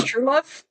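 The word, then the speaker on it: Trewlove: As owner of the Elysium Club, which caters to women's fantasies, Aiden Truelove, but it's spelled Trew, like slang for trousers, but it's Truelove.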